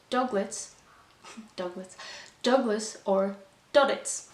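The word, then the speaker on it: Duddits: doglets douglas douglas or dodditz because that's how douglas pronounces his own name so his name is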